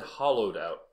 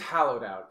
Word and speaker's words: Hallowed Out: Wait, because you just said Hollowed Out. Is it Hallowed Out or Hollowed Out? I think it's Hallowed Out. Because that's how it's spelled.